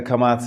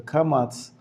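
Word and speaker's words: kamatz: to make that distinction they pronounce the kamats halfway towards the O A little bit like an oak and apatahas is the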